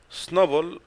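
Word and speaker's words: SNOBOL: Snowball, Snowball actually pronounced Snowball, like كرة الثلج.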